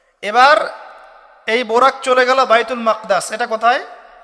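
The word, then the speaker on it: بيت المقدس: এবার এই বোরাক চলে গেল বাইতুল মাকদাস। এটা কোথায়? বাইতুল মাকদিস, বাইতুল মাকদাস না, বাইতুল মাকদিস। বিভিন্ন মানুষ বিভিন্ন উচ্চারণ করে।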